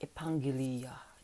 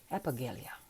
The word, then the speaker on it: Epaggelia: for your continued support it should be a pangilia that's the pronunciation but just call me epiglia or whatever all right let's do